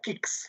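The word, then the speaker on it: CIXS: and European institutes uh kicks we don't call it c on exess it is called Kicks C for Jan one for one Jan one we pronounced as kicks Sara another instrument that United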